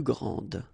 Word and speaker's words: grande: Okay, don't insist on the final E, but then pronounce this D, grande, and then exactly the same pronunciation, grande.